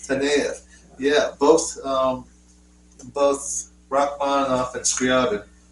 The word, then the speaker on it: Taneyev: Here it says arranged by Sergei Taneyev.